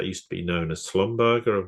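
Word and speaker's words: Schlumberger: be known as slumberger I think people have probably heard of that or quite a lot of people they've Slumber yeah who why I was calling because I find the other pronunciation anyway that's just me I've heard both just just for the people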